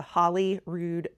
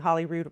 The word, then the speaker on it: Holyrood: Holyrood Palace, which we've been going back and forth on whether I'm saying Holyrood right or not. I think there's some debate. Some do say it Holyrood and some say it Holyrood. I'm just going to stick with Holyrood.